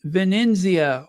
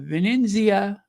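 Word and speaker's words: Venezia: mu in musan yes Venia or musan I'm going to say it like they do in the native countries uh Venia and musan but yeah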